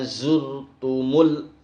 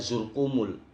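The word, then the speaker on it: زرتم: Hatta zurtumul. Nah, zurtumul ini dibaca zurkumul. Zurkumul.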